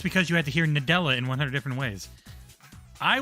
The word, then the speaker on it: Nadella: I was getting mad at that guy because he just kept saying it wrong and it felt like he was saying it on purpose. It was Da Dela Nadola like stop.